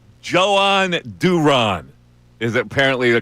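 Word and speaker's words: Jhoan Duran: In a spa, in the Spanish language, the J is not pronounced Joe. It's Johan. But this uh this guide says it could be Joan. Joan Duron. Joan Duron. Joan Duran.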